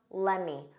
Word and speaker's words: let me: In spoken English, let me becomes lemmy.